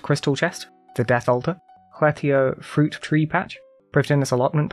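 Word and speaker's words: Lletya: I'm guessing most people say Letia, but it's like Hletia, Prifdinus, Tiras Camp, and Zul Andra.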